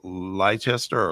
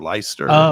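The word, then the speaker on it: Leicester: up the pronunciation, but is it is it Lchester or Lyster? Yeah, I should have got that. That was a historic one. Lyster City one. Yeah, Lester City.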